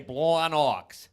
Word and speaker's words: Blawnox: But only if you say it like that. You have to say Blawnox. If you ain't say Blawnox, you're doing it wrong.